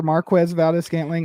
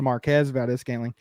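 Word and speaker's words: Marquez Valdes-Scantling: Like, yeah, like the likable meter for Marquez Valdez-Scantling or more normally, pronounced to Marquez Valdez-Scantling like a normal person, but it's going down big time.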